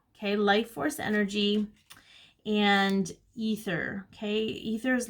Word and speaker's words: ether: Some people might pronounce it aether. I say ether, but that's just me.